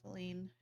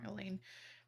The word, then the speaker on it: Aline: And in your last playthrough, you're talking with Aline. Oh, I pronounced it wrong, Aline.